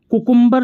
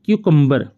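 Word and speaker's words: cucumber: CUCUMBR, कुकुम्बर नहीं बोलना, क्यूकम्बर, क्यूकम्बर, क्यूकम्बर, ध्यान सुनिए, क्यूकम्बर।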